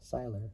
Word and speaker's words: Seiler: The auction benefited the Stephen Seiler, which is spelled Siller, Tunnel to Towers Foundation,